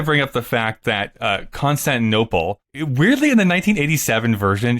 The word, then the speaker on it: Constantinople: up the fact that Constantinople weirdly in the 1987 version she pronounces I think in a weird way where she says concept of no plot she really emphasized that